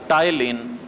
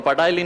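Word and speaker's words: ptyalin: टाइलिन। दूसरे का नाम होता है टाइलिन। इसमें पी साइलेंट रहता, बोलना मत, पटाइली, है ना? तो पटाइलिन नहीं है, ये टाइलिन है।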